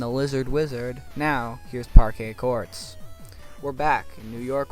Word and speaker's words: Parquet Courts: King gizzard and the lizard wizard now here's parquet courts we're back in New York with the art